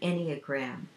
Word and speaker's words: Enneagram: Okay, I also wanted to mention to you for my best tool in relationships is called the Enneagram, and this is what it looks like. It's spelled E-N-N-E-A-G-R-A-M.